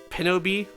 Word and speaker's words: Pinobee: I pronounce it as such, but really you pronounce it like Pinobee, because the reason why it's called that is because it's like Pinocchio Bee.